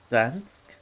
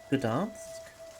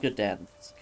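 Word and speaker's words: Gdańsk: I know a Polish YouTuber who does a soft G sound for Gdansk. Huh. Gdansk? I don't know. I've been corrected that it's not Gdansk, but I could just be pronouncing the G too harshly.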